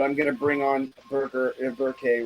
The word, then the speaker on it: Berkay: It's Berkay, but don't worry about the pronunciation. It's a hard name to pronunciate. I know. You want to get it right. You don't want to. Yeah, you don't want to. It's like happy birthday, but with a K.